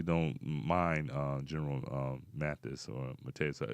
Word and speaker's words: Mattis: I actually don't mind General Mattis or Mateus. How do you pronounce his name? Is it Mattis? Mattis, yeah.